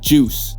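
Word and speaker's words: 7uice: The 7-Use, how do you pronounce this man? Juice. It's just pronounced juice? Why not spell it that way then, man, that stylization ridiculous, man.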